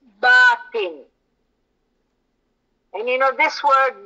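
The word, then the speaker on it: باطن: that we should um pronounce this word uh correctly so the word is batin and you know this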